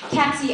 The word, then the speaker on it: Catzie: You bring out my impatience because I will not take Cappy, Cassie, or Cassidy as a substitute. It's Catzie, and so what if it